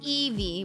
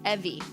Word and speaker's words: Evie: My name is Evie. Rhymes with heavy. Evie.